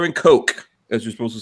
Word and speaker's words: Koch: H&K, Heckler & Koch, as you're supposed to say it properly.